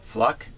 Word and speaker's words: Fluke: to express his def and that's how she pronounces her name fluck yeah because i saw the interview now if she was donald duck she would be obscene because she'd spell it f-l-u-k you would think it would be fluke but she pronounces it flux so fluck yeah she